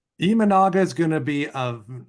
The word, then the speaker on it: Imanaga: Well, I just wish Gabe's presentation was last week before I drafted Yusei Kikuchi and Shota Amanaga, because now I know the correct pronunciation. Imanaga is going to be an amazing get for the Cubs.